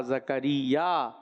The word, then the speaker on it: زکریا: زا زبر زا، کاف زبر کا، زکا، را یا زیر ری، زکری، یا الف زبر یا، زکریا.